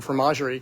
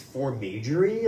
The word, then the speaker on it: fromagerie: I keep thinking it's formagerie, like they do magic with food, or I don't, formenagerie. I'm terrible with Yeah. pronunciation, so I'm sure I'm wrong. No, I'm sure you're right. I didn't speak French. I wish I spoke French. Anyway, fromagerie. Okay, tortured poets.